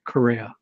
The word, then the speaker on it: Correa: My last name is pronounced Correa. Correa? Yes, like the guitarist Chick Corea.